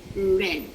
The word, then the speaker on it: read: to their pronunciation so we have read and then red like the color red however the spelling is